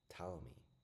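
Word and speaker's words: Ptolemy: Translator pronunciation. Tall me. How do you say Tommy? Tommy.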